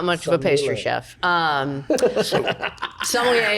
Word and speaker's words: sommelier: Sommelier is a French word. It's like creme brulee. Creme brulee. Yeah, I can do creme brulee. I'm not much of a pastry chef. Sommelier it's just a wine professional.